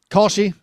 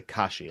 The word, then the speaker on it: Kalshi: Kalshi. Okay, I was going to say Kashi. Is it pronounced Kashi? That'd be much better. Is there an L in there?